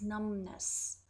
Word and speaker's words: numbness: pronunciation of the word b is silent we do not pronounce it so it's numbness it's the loss of